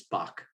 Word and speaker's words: Backe: And so it's Bach. It's pronounced like the composer, but it's spelled Backe.